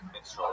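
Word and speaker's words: minstrel: Also, if you want to do a bit about menstrual shows, make sure to pronounce it minstral and not men, which is how you are pronouncing it.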